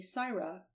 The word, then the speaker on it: Sarah: from that fact that the average Cockney English servant pronounced the letter A like the letter I. They say tyke for take, and sigh for say, and so they called her Lady Syra for Lady Sarah, and Lady Syra became Lady Siren.